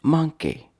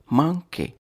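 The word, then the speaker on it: manqué: Today's word is manque. Manque. Manque. 2 syllables.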